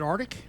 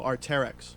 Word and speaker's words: Arc'teryx: So here's the question: is it Arctic? No, Arc'teryx. Arc'teryx. Yeah, Arc'teryx.